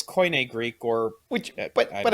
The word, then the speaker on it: Koine: of coin greek so i know it's koine because yeah what i'm